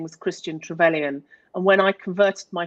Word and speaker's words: Trevelyan: Am I pronouncing that right? Trevelyan.